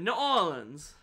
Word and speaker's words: New Orleans: Everyone in that movie pronounces it Nolans. Yeah, that's because how people in Nolans pronounce it.